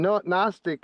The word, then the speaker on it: Gnostic: G in Gnostic is silent because God is silent unless he decides to talk to you.